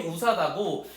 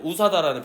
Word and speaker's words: USDA: 요거 읽는 법이 우사다고 가끔 가다가 신문이나 뉴스에요 표현이 나와요. 우사다라는 표현이. 그럼 이건 미국 걸 얘기하면 돼. 미국 기준이야.요 그룹 자체가 USDA라고 읽지 않아요, 우리는.